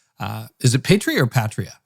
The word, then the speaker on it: Patria: Petria is how you would pronounce it in the Greek originally, which is what we Yeah.